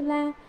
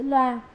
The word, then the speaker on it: la: Đó là cùng tỷ la đại tướng, chữ la, có khi đọc là chữ loa.